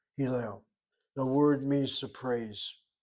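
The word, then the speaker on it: הלל: Accent is on the last syllable. Hillel.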